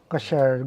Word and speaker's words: Ksher: First of all, did we pronounce the name of the company correctly? Ksher. It's Ksher. Ksher. Ksher. Yeah, the name Ksher came combination between cashier, Cashier.